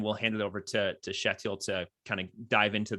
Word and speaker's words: Kjetil: So as long as you don't call it Kjetil, it's like it's Kjetil.